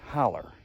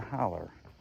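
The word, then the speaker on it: hollow: near the bottom of what I grew up calling a holler but I think it's it's spelled h-o-l-l-o-w but here in these parts we we pronounce that holler so I'm headed down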